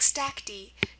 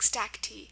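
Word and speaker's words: stacte: So, I just want you to know that if you ever hear something ending in the sound E, like stack D, don't be tempted to put a Y there.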